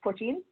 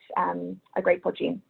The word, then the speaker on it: poitín: And we do also, of course, have Irish poitín.